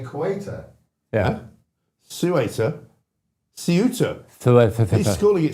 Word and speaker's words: Ceuta: We know it's pronounced Ceuta, but we're not Spanish, so we say Ceuta.